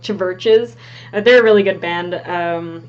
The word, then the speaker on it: Chvrches: It's like Churches, but with a V instead of a U. It's like Chvrches.